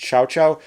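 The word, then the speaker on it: Cao Cao: So, starting off, we have Mr. Cowcow or otherwise pronounced Chow Chow.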